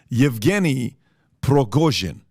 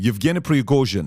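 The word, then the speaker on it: Yevgeny Prigozhin: group is a guy named I want to pronounce this correctly yevgeny progojin okay that's his name Evgeni pregozian he's a billionaire it's like the black water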